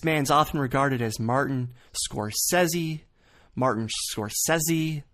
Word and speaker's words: Scorsese: This man's often regarded as Martin Scorsese. Martin Scorsese. People often try to drag the Z in there. Martin Scorsese, when it's actually Scorsese. Scorsese. Martin Scorsese. There's no Z in sight.